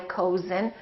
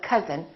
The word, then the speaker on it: cousin: like cousin my cousin we don't say my cozen we say my cousin or country and once